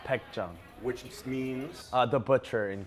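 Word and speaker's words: Baekjeong: Your restaurant here, pronounce the name of for me, right? Baekjong.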